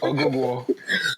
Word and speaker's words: Oguguo: Oguguo.